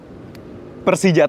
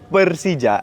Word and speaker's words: Persija: Enggak sengaja nyebut kan sebenarnya ejaan Persija tuh Persija. Persija. Rata-rata orang Bandung kan nyebutnya kalau Persib Persib. Jadinya E ya.